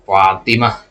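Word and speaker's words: فاطمة: Kita mengatakan ya, Fatimah. Ya, ini bacanya seperti hak di situ meskipun secara penulisan tidak.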